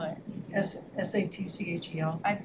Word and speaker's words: Satchel: Just spell it. S-A-T-C-H-E-L.